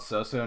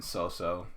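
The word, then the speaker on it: Sousou: just haven't talked about um this one's called so-so no uh freyren it's spelled f-r-i-e-r-e-n and then so-so s-o-u-s-o-u and essentially it's about an elf who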